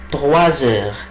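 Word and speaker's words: trois heures: طب ليه قلت تغواز؟ ما قلتش توا؟ برضه لان الاس لما يجي بعديها ان فويل سو برونونس زد، بنطقه ايه؟ زد. يبقى عشان كده بقول ايه؟ الي تغوازور. طيب العقرب لما يجي على 4 يبقى الساعه كام؟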